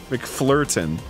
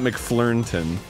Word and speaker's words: McFlirtin: Yeah, McFlirtin, not McFlirnton. MCFLURNTIN, but the first N is silent.